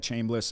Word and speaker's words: Chambliss: Similar style players, Chambliss, is that how you say it? Yeah, Trinidad Chambliss, and then Austin Simmons was the starter.